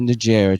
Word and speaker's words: Najera: Manuel Najera.